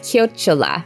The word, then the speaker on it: chiocciola: The @ symbol is pronounced chiocciola, and it means snail.